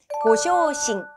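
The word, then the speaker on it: ご昇進: 승진은요, 고쇼싱, 고쇼싱이라고 읽어요.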